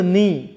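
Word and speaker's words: knee: Oral communication reading fix silent letter के ऐड के एट the start and pronounce the words dear students her word के पहले हमने के पुट करना है और इस वर्ड को पढ़ना है। सो फर्स्ट इज़ नी के N double E नी second is नो third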